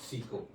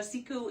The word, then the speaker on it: SIKU: So, the word secu actually means uh sea ice in Inuit. And after a couple conversations with you, George, I'm told the pronunciation is similar to uh a CRE word that translate to spit.